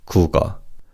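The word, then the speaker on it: 국어: And as you could hear the kiobim in the first syllable carries over to the second syllable. So this is pronounced as cougar.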